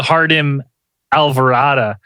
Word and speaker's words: Jardim Alvorada: on a I was like how do I pronounce this again uh and it's it's actually the the hardem alvara UFO Abduction encounter well this is a Valentine's